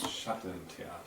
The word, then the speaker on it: Schattentheater: And I went to this one, could you pronounce this for us? Schattentheater.